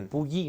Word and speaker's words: Puyi: El nombre, Puyi, ¿no?